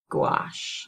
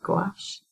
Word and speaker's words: gouache: Yeah, so there's an artist named Aimee Cutler, and she's a painter, and she does a lot on gouache. I think that's how you say it, gouache.